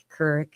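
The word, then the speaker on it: Couric: I loved Katie Kur Kurrick is how you say her last name.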